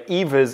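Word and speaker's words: Aoibhe: the Run neck all just for English people by the way Evas is spelled a o i b he e obviously that reminds me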